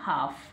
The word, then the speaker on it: half: क्या रहेगा, L silent. तो क्या बन गया, हाफ।